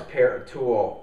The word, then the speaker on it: Paratool: this is called the parol uh black oxide are you sure it's not pronounced par no I'm pretty sure it's par tulle but uh you know